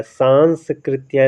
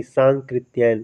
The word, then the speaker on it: सांकृत्यायन: सांस्कृतिक क्याय होता है सांकृत्यायन ये जो आधा सा दिख रहा है ना यही आपका गलत करा रहा है सांकृत्यायन होता है सांस कृत्या नहीं सांकृत्यायन सही उच्चारण भी करना है दोस्तों वंदना अब देखिए वंदना